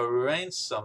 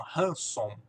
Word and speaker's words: ransom: Cara, essa palavra ransom aqui que tem esse R. Lembrando que esse R em inglês é pronunciado um pouco diferente do que você está acostumado em português.